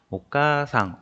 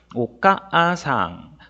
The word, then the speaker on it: お母さん: 오까상 어머니라는 단어인데, 자, 오까상 보시면 여기 단어에 카 뒤에 아가 와 있잖아요. 그러니까 원래 글자 쓰여져 있는 대로 읽으면 오까아상이라고 읽어야 되는데, 아는 읽지 않고 카를 두 박자로 길게 발음한다 라고 하는 게 장음이에요.